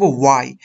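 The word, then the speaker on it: why: প্রাসঙ্গিক ছোট্ট একটু বিষয় বন্ধুরা, সেটা হচ্ছে ওয়াই, ওয়েন, এগুলোকে আমরা উচ্চারণ করব ওয়াই, আমরা হোয়াই বলবো না, আমরা বলবো ওয়াই, ওয়েন, ওয়ার, হোয়াট, এগুলো ইন্টারোগেটিভ অ্যাডভার্ব।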